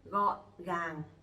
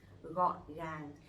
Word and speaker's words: gọn gàng: letter G in Vietnamese we pronounce G. G. Okay, so it will be like you goggling in your throat, like it's like that. G. G. Okay. For example, gọn gàng.